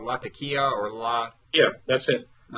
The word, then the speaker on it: Latakia: cleansing in a crucial place that I'm gonna mispronounce called Latakia or LA yeah that's it Latakia is on the coast it's the capital of